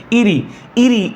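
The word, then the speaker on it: Erie: इसे अपने क्या लफ्ज़ प्रोनाउंसिएशन क्या करनी है? इरी इज़ the lake of great lake of north America.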